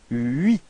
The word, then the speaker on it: huit: Okay, so you pronounce the final T, but then H, so the first letter is not pronounced. So you get this first sound is U plus I, and it gives you this ui, ui.